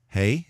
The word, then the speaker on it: Hey: Hey is pronounced like our H, H as in hug, hey.